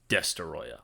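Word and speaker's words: Destoroyah: burning Godzilla the Incarnate of the oxygen Destroyer destoya which yes that is how you pronounce his name and I will see you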